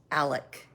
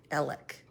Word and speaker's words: Alex: they going right around for 25 minutes before they eat dinner there's no two hour it's spelled Alex but it's pronounced Alec Alec it's like a southern